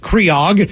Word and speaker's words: Craig: I want to give a huge drunken birthday shout out to my best friend and now boyfriend, Craig, pronounced Creog.